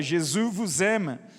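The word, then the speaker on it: Jésus t'aime: ele obviamente me ensinou e me falou a pronúncia Jesus gemas então comecei a escrever isso E aí chegou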